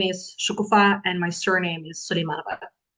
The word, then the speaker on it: Shukufa: This one is with Shukufa, stress on the last syllable, who's in Belarus.